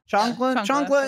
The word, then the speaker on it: chancla: How do you pronounce it? Chancla? Chancla.